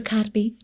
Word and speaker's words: Kotb: Cotby. Yeah. Yeah, yeah, say it or say her name. Hoda Kotb.